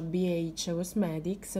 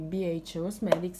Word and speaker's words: BH Cosmetics: E questa qua mi avete detto che si pronuncia BH Cosmetics, quindi BH Cosmetics, che è fighissima perché in realtà c'ha lo specchio che si mette così con le mie manate sopra.